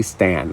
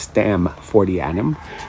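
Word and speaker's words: Stamfordianum: Stam with an M. I say Stan like Stanley 4D anom. So it's Stam 40.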